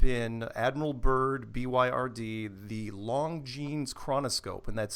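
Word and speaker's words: Longines: youtube and type in admiral byrd byrd the long jeans chronoscope and that's spelled l-o-n-g-i-n-e-s i believe chronoscope interview and that's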